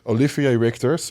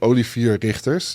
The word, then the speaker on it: Olivier Richters: Olivier Richters. My first time on FIBO, everybody was coming, "Who are you? Your name?" Nobody understood. I said, "Olivier Richters." That's how you say it in Dutch.